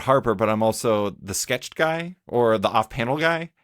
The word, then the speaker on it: SKTCHD: but I'm also the sketched guy or the off-panel guy and so or the sketch D guy a lot of times people mispronounce sketched uh which is funny because it's a fake word so it's totally understandable